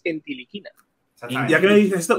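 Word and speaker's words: Ntilikina: Y si te dicen ellos niliquina, dicen: no, os estáis equivocando, lo estoy diciendo mal, es entiliquina.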